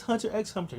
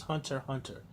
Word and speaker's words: Hunter x Hunter: hunter d hunter hunter i know some people say it was Hunter x Hunter no it's hunter hunter pronounce it that way that's you bleach I